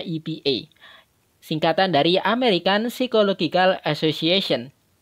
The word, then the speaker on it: APA: Tulisannya APA, bacanya EPA.